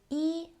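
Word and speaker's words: 一: It pronounces yi.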